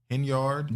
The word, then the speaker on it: Henyard: Henyard.